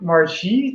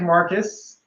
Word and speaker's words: Marcus: our next guest uh Dr Marie did I get your pronunciation correct uh no that's wrong marus Marcus Mar some say asteroids